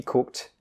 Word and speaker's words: cooked: so just remember guys if you have a k d at the end of a word it's pronounced as T but remember you still